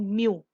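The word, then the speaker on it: μ: Moments को हम denote करते हैं एक ग्रीक लेटर के साथ, ऐसे हम बनाते हैं और इसको हम प्रोनाउंस कैसे करते हैं, दिस इज कॉल्ड म्यू।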